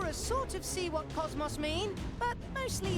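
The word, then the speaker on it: KOS-MOS: bug me slightly that they're calling her Cosmos and not Cosmos because it is pronounced Cosmos in zenos Saga I guess no one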